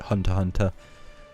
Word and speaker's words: Hunter x Hunter: I hadn't watched anything like Hunter x Hunter. The X is silent.